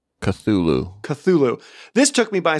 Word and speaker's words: Cthulhu: have to cut it ben how do you pronounce that lovecraft monster's name cthulu cthulhu cthulhu cthulhu this took me by surprise i awaited